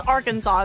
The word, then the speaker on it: Arkansas: It's Arkansas is how you say it. Yes. Look, I can't pronounce big words sometimes, but I can pronounce Arkansas right at least.